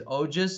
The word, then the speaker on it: ojas: And he naturally, because as his ojas increases and as the semen mixes more. Say that word again, again, please. As his ojas. What increase? Ojas? Ojas. Spell it, please.